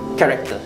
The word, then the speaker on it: character: Last C is actually character. Alright. Yang juga macam pronunciation macam K juga.